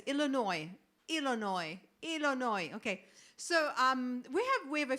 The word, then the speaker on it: Illinois: You don't pronounce the S, I guess. Illinois.